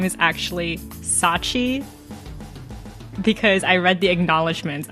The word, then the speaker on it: Scaachi: because her name is spelled with a silent c and I was like oh a silent c that means her name is Sachi that is nefarious okay